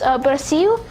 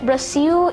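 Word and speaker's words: Brasil: No, I'm pronouncing it Braasil. It's a W at the end because uh, Brazilian Portuguese works this way where the L's at the end of some words is pronounced as W, hence Brazil.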